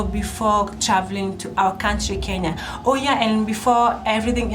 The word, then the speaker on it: Kenya: how we pronounce our country our country is pronounced as Kenya not Kenya as most visitors come here and give us a really hard time but our country is pronounced Kenya so here in Kenya people drive from the